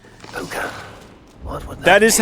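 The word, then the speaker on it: Púca: The cursed pukah. What would that is how it's pronounced.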